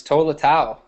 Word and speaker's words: Tolatau: Ula Tolatau, but that could be totally wrong. No, you are dead on. It's Tolatau.